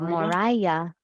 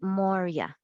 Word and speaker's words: Moria: Mor Mor okay so the accent would be over the O so the emphasis on the o Moria so instead of Moria it's Moria is the way it's